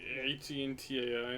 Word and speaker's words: hentai: H-E-N-T-A-I, I think. Yeah, that's how it's spelled.